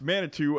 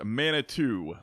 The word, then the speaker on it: Manitou: I was corrected on the name it is pronounced Manitou at least in the areas that farmer Dan and Luke Latham are from they say it is pronounced Manitou Manitou so I will try to remember that